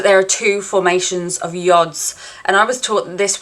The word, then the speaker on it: yod: are two formations of yods and I was taught this was the Finger of God interestingly this is a Hebrew word meaning the hand of God and it's pronounced yod in astrology the yard